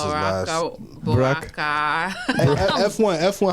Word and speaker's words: Boakai: Boakai. F1. How you pronounce his last name? Joseph Boakai. Boakai. Joseph Boakai. You gotta say it the Liberian way.